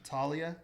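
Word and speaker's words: Taulia: Talia?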